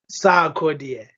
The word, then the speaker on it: Sarkodie: from this first of all how do i pronounce sakodia sakodi sarkodie yes all right all right fight fight yeah